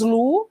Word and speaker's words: lo: que a Lu né nós falamos Lu embora escrevamos l.o mas a pronúncia é Lu porque é um pronome